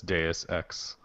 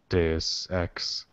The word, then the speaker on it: Deus Ex: Yeah, that it's Deus Ex. Deus Ex. Why don't they just put like like I wish they would spell it phonetically. So it would look cool if it was D-A-Y.